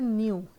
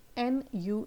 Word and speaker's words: nu: इसको बोलते हैं nu, N-U, nu. First one was mu, pronounce कर रहे थे mu, mu.